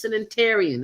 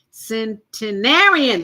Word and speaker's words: centenarian: our first interview with her first sanitarian and I hope I'm pronouncing that right centenarian there you go centenarian I finally got it right Miss Lisa Charles